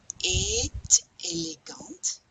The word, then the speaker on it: est élégante: La princesse Kate est élégante. We pronounce the T on A-E-S-T because we're starting with a vowel here.